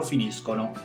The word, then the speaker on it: finisco: finiamo, voi finite, loro finiscono. Fíjense la pronuncia en el caso de la SC continuada de una vocal dolce. Finisce, finisce. En el caso de una vocal dura, como la letra O, finisco, finiscono.